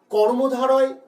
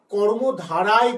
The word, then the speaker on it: কর্মধারয়: প্রথমেই বলে রাখি, কর্মধারয় বানানটা কিন্তু আমাদেরকে মনে রাখতে হবে। অনেকেই আমরা ভুল করে কর্মধারায় করে ফেলি। সমাসের নাম কিন্তু কর্মধারায় নয়, সমাসের নাম হলো কর্মধারয়।